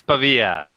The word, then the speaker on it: Pavia: way to say hey it's pavia pavia is the italian way yeah okay and also